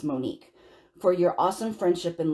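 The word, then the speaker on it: Monic: Oh, okay, so she spelled it M-O-N-I-C, and then she pronounced Monique.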